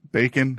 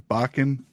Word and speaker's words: Bakken: I didn't think her name was Bacon. I thought it was Bakken.